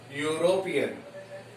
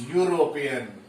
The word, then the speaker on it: European: The first letter of this word is E, but it is not giving us E sound, it is giving us U sound. We pronounce this word as European.